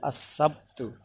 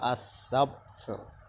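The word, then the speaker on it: السبت: আসসাব Hamza scene জবর আস scene বা জবর সাব আসসাব তাফেস্তু আসসাবতু। আর তুমি যখন এটাকে অক্ষ করে বলবা উচ্চারণটা হবে এভাবে আসসাবত আসসাবত। আমরা আরবি ভাষা শিখব, ওখানে বাংলা বা অন্য কোনো ভাষা মিশ্রিত করব না, শুধু আরবিটাই শিখবো।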